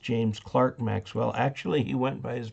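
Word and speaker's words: James Clerk Maxwell: that i cannot confirm nor deny okay it's pronounced james clark maxwell actually he went by his middle name clark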